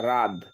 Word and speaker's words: রাদ: লিখতে হবে রাহা ভাই আমার নাম রাহাত না রাদ একটু জিনিসটা বুঝেন আপনারা